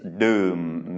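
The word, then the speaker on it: ดื่ม: This is Dordek, Sala'u, Myek, Moma, and this is Doom, meaning to drink. Doom. Nam Doom is drinking water, and this is a low tone because it's a mid-class consonant with Myek.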